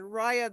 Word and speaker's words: Raya: I'd also like to say that both Jill and Raya, that rhymes with papaya, I got papayas right out here.